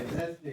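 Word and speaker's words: Wednesday: कौन सा है आज वेडनेसडे डब्ल्यू ई डी एन ई एस डी ए वाई वेनेसडे क्या पढ़ते हैं इसको वेडनेसडे डी साइलेंट हो जाता है वेडनेसडे ठीक है वेडनेसडे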